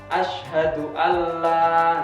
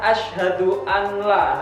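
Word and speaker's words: أشهد أن لا: Biasanya dalam pelafalan azan kan asyhadu alla ilaha illallah. Nah, itu kadang ada yang membaca asyhadu an la. Nah, ini salah.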